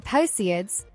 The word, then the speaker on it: Perseids: The Perseids, pronounced Perseids are caused by debris left behind specifically by the Swift-Tuttle comet.